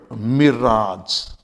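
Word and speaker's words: mirage: एट all this pronunciation but in some of the words this A जी E even इ pronounce as आज look at this word मिराज एम आई आर ए जी ई मिराज सेटा तोड़फोड़ जिसे से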